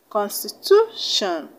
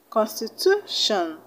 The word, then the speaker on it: constitution: t i o n where should you place the stress the second syllable from the end you should place the stress on the second syllable from the end when you have a word that ends in t i o n so that will make